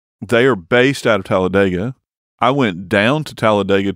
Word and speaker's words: Talladega: most people are familiar with Talladega, although they'll tell you there it's pronounced Talladega.